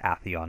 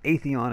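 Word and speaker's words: Atheon: the a/c on challenge apparently he's pronounced a Theon not a Theon as we all fought for two years the Templar challenge at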